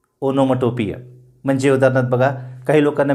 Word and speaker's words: onomatopoeia: त्याच्यानंतरची पुढची figure of speech अनोमटोपिय किंवा ओनोमॅटोपिय. खरा उच्चार आहे त्याचा ओनोमटोपिय. लक्षात घ्या, ओनोमटोपिय. स्पेलिंग खूप विचित्र आहे. ONOMATOPOEIA, पण त्याचा उच्चार काय? ओनोमटोपिय.